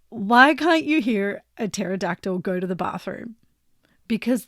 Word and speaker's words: pterodactyl: can't you hear a pterodactyl go to the bathroom because the pee is silent you